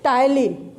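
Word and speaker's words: ptyalin: तो TYM से क्या, TY जो है, TY से टायलिन। यहाँ पे P जो है वो साइलेंट होता है।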